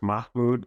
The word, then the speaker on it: Mahmoud: this lawsuit sure so the the case is pronounced Mahmoud versus McKnight and this case originated out of